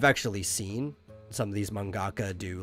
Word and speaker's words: mangaka: an artist both are equally called mangaka uh ka in in that sense or ga it's the same syllable it's just a heavy sound basically it's like a